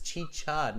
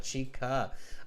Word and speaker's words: chicha: chi cha so everybody i've been corrected it is chi chad not chica carolina have you ever